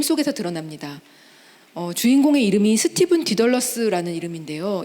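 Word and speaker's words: Dedalus: 주인공의 이름이 스티븐 디덜러스라는 이름인데요. 이 디덜러스는 다이달로스를 영어식으로 이렇게 발음을 한 거죠.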